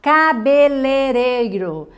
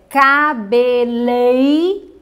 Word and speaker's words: cabeleireiro: qual é a dificuldade as pessoas têm uma tendência a não colocarem wii quando elas falam então elas têm uma tendência para falar o cabelereiro então o correto é cabeleireiro pereiro é um pouco